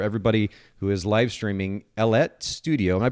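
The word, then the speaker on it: Ellette: who is live streaming ellet studio am i pronouncing that correctly that that's right it rhymes with baguette okay and you've probably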